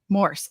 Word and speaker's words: Morss: do you pronounce it Morse or mors how do you yeah so it's like it's like horse with an M like horse with an okay Morse Morse got it